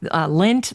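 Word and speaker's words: Lendt: able to go was lynn's pumpkin patch the lint family pumpkin patch lint the last name is spelled l-e-n-d-t good german spelling there now my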